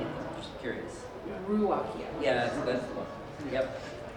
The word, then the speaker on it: Ruocchio: And but I also did it so I could spell it properly. How are you saying it? I'm just curious. Ruocchio.